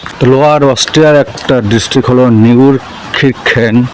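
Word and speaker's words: Neunkirchen: অস্ট্রিয়ার একটা ডিস্ট্রিক্ট হল নিউর খিরখেন আগে এটাকে উচ্চারণ করতাম নিউর খিরচেন পরে একজন জানলাম যে আসলে উচ্চারণটা কি হবে এখানে পতাকা লাগানো এখানে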